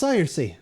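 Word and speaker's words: Saoirse: Say, oh, s maybe si sari. Yep. Good luck on you. Ah, it's Cersei.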